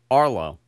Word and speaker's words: Arlo: It's Arlo. A-R-L-O. No, you know what? You know why I called it? No, I called it the Arlo because I was also sent another product that had that name.